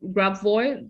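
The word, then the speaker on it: Grabovoi: And there's another type called Grabvoy. That's right. Am I pronouncing it correctly?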